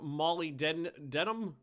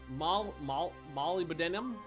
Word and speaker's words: molybdenum: I don't have molybdenum.